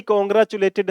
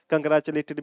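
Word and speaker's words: congratulated: ही कॉन्ग्रेचुलेटेड हर, देखो इस word की प्रोनाउंसिएशन अमेरिकन में अलग है, ब्रिटिश में अलग है। कंग्रेचुलेटेड भी बोलते हैं, कॉन्ग्रेचुलेटेड भी बोलते हैं। कंग्रेचुलेटेड बोलने की प्रैक्टिस कर लो भाई।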